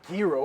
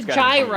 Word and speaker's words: gyro: it's a yo not guo pretty sure it's guo bro it's gyro you wouldn't say lasagna would you the g is silent why put the g